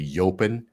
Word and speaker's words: Jopen: a bre called uh I don't know if they say yopin but it's spelled jopen with a J um it's quite good